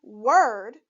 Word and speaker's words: word: those rules when reading word remember to pronounce the letters o and r as er let's sound it out